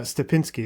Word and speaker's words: Stepinski: for taking the time I really and it's stepinsky is the last name right is that pronounced correctly corre excellent yeah so thank you